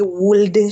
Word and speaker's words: would: Yes, so the L is not, the L is absorbed in the pronunciation. I know that there is this tendency to say would, should, could, and all of that.